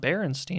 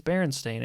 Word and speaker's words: Berenstain: And then someone starts saying, it's not Berenstein, it's Berenstain.